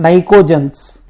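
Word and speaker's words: pnictogens: हैं, नाइट्रोजन family, और इसका नाम है नाइकोजेंस। क्या बोलते हैं इसको? नाइकोजेंस। पी साइलेंट रहता वहां पे।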